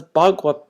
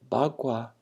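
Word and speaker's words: 八卦: And it's interesting because Bagua, I think the same pronunciation, Bagua can be gossip, or Bagua can be the name of this symbol. And there's probably a difference in intonation, but that's one of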